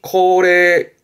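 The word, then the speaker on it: 恒例: 항래라는 것은 발음이 코레 코레입니다.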